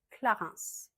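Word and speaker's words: Clarins: Bonjour bonbon on je recommence en on Clarence Clarence on prononce le S. Clarence la roche posé.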